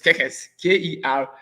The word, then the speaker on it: Kerkez: Now they have some other defenders, and by there's this player called Kekes. I don't know the pronunciation is Kekes. Kerkez.